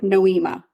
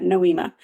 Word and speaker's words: Nohema: it noema noema but they say it fast and it just yeah it flows beautifully right last name Graber noema I'll remember that noema she decided to go